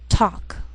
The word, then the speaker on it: talk: Sometimes L can be silent, so you have to be careful.